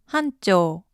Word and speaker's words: honcho: head anti-clockwise 90 degrees honcho hunto all these years i thought that honcho was a spanish word what with it rhyming with pancho and all growing up i used